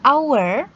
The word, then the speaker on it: hour: But it's not pronounced, tetapi dalam kata ini, H-nya tidak dibunyikan. In spite of its spelling, the word hour begins with a vowel sound.